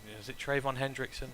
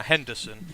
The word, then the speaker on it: Henderson: So obviously with the appearance of Trayvon Hendrickson? I'm getting the name wrong, aren't I? Henderson.